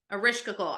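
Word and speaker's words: Ereshkigal: Erishkigal.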